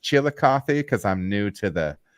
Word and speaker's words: Chillicothe: talk talking up this Brewer at is it pronounced Chillicothe because I'm new to the yeah Chillicothe Chillicothe